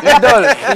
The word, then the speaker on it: Lydol: Je ne sais pas comment tu as fait pour porter ce nom, l'idole.